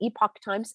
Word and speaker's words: Epoch Times: my screen again we're going to go to epic times some people pronounce it epoch times epic times isn't this interesting 88 people have